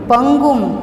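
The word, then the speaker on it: पङ्गुम्: यहाँ पर पंगुम, यहाँ पर ड जैसा है, इसका प्रोनाउंसिएशन नहीं होगा। ये शब्द हमें बोलना है और अनुस्वार है इसलिए प्रोनाउंसिएशन होगा पंगुम।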